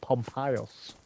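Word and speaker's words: Pompeius: get it what I the Roman general that everybody calls pompy was pronounced pompas pom dominicus glus Aus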